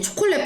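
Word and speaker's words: チョコレート: 그래서 CH를 만약에 영어 대표적인 표기 CH가 있을 경우에는 치로 해줍니다. 그러면은 우리 여기에다가 초콜릿이니까 요를 또 붙여가지고 치에 요 빠르게 초콜릿도 해주시면 되겠습니다.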